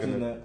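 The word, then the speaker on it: Knecht: That's how you pronounce his name, Kennett. Yeah. I like Kennett.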